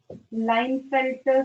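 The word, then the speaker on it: Klinefelter: लाइनफेल्टर, के साइलेंट है, लाइनफेल्टर सिंड्रोम.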